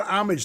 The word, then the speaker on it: homage: had waffle cones, they had sugar cones, they had Yeah, it was like more of an homage to ice. An homage? A homage. homage. Homage. Hey, H is silent, Jesus.